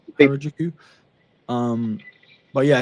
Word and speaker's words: Harajuku: Um I can't how do you pronounce that? Harajuku. Harajuku.